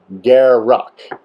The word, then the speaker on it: Garruk: Garuck. Okay, that's how you're supposed to pronounce it. Garuck. So says, Mark Rosewater.